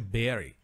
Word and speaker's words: bury: And I, bury, olha que legal, você tem um U aqui, mas a pronúncia é bury.